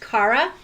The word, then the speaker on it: Cara: listeners yes uh her name I think is pronounced Cara C A R A yes so I'm going